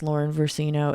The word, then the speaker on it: Versino: It's Lauren Versino. It's spelled exactly as it sounds.